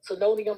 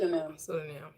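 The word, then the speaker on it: pseudonym: Senonium. How do you pronounce it? Sudinam.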